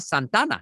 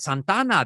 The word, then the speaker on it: Santa Ana: my response is like i pronounce it how the natives do and that just messed with people even more because if you're white from santa ana then i'm telling you that you're not a native if you're pronouncing santana and not santana you know so and